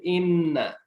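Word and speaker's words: إنّ: এখানে জজমটা হ্যাঁ হ্যাঁ ইনের মধ্যে জজম আছে আর ইন্নার মধ্যে তাসদিদ আছে এই ব্যবধান আছে ইন্না মানে নিশ্চয়ই আর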